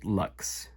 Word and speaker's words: LX: or I guess I've I've heard it's intended to be pronounced Lux the lumy Lux um yeah first of